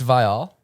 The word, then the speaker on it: Viall: It's Viall? It's Viall. Viall. I feel like that's not that hard to pronounce.